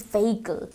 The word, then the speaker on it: vehicle: It's not vehicle. H is silent, it's vehicle.